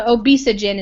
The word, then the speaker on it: obesogen: ever seen it so obesogen is how I would say it obes not obes the P after the California arvine ivine sorry